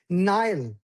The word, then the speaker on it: Nile: Nile. I want to hear the L.